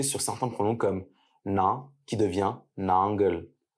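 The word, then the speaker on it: நாங்கள்: certains pronoms comme navient nangle. Dans le tamou parlé, le L final est mué, ce qui donne nang.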